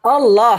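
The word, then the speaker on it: الله: Nah, tapi kalau cara membacanya dia ee seolah-olah A itu ee bersuara O. Jadi Allah bukan Allah.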